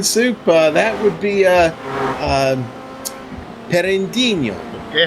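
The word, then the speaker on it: Pinheirinho: For turn number 9, Soup, that would be Perendinho.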